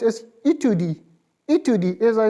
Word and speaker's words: étude: So separately, study will be pronounced as étude. Étude, as I said in the previous lesson, for new users, I am repeating once more. E with right side tilted apostrophe will give a sound of A.